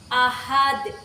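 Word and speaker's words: أحد: kedua pada kata Ahad hukum bacaannya Qalqalah kubr karena ada Dal yang diwakaf pada akhir kalimat cara membacanya itu dipantulkan teras seperti ini Ahad Kemudian pada ayat yang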